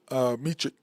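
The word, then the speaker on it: Vasily Micic: You've got SGA, Trey, Kaysen, Vasily, Vasily, oh, I'll say his name, Vasily Michik, and I thought it was Mechik, but it's Michik.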